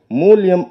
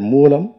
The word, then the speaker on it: மூலம்: ஒரு குட்டும் வைக்க வேண்டும் அவர் பேசும்போது மூலியம் என்று மூலத்தை அவர் உச்சரித்தார் அப்படி உச்சரிக்கல் ஆகாது தம்பி மூலியம் என்றால் நிமித்தம் என்று பொருள் இனி வரும் மேடைகளில் நீங்கள் மூலம் என்கிற சொல்லை சரியாக உச்சரிக்க வேண்டும் என்பதை ஒரு வேண்டுகோளாக நான் இந்த மேடையில் சொல்கிறேன்.